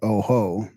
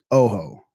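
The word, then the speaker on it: Ojo: I think it was I stressed the wrong syllable after all that. Oho. Oho. Not Oho. Oho. Oho.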